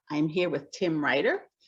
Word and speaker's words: Riter: I am here with Tim Riter, who is a writer, but it's spelled a little differently. His last name doesn't have a W in it.